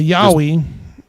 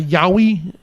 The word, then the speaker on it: Yowie: one he has a Yowie a yoi is that how you pronounce it yeah that's correct that's uh if I'm